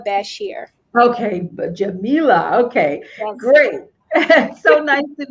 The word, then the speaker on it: Jamilah: her hi oh hello and my name is pronounced jamila bashir okay but jamila okay great so nice to meet you sorry